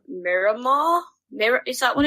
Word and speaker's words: Miramar: So on Xbox now, I'm going to pronounce this wrong. Miramar.